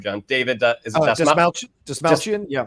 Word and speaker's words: Dastmalchian: And also, help me with the pronunciation of his name, John. David, is it Dastmalchian? Yeah. Dastmalchian, who's playing Calendar Man and will also be playing Polka Dot Man in James Gunn's Suicide Squad.